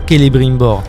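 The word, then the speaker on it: Celebrimbor: si je ne dis pas de bêtises se prononce toujours calibrer bord problème je trouve que c'est les brimboard c'est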